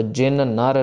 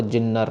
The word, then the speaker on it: जिन नर: नन्ना स्टार्ट होगा तो जिन नर नाम नॉट जिन्नर नाम जिन नर नाम तहारो